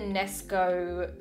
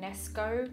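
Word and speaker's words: Knesko: So these are actually the Nesco, I think that's how you say it, Nesco, it's K-N-E-S-K-O.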